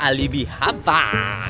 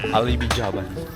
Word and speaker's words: Alibijaban: Yo astig dito sa Alibian Alibi Jaban oo nga pala sabi ng mga ano dito lokal ang tunay na b bigkas dito sa lugar na to is Alibijaban hindi alibian mamaya magti-tiktok kami.